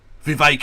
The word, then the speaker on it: Vivek: Vivek, it rhymes with cake.